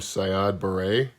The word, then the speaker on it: Siad Barre: In 1991, there was the removal of a Cold War-era dictator named Siad Barre, which is, I'm assuming that's how you say his name. Sounds like something you put in your hair, but yeah.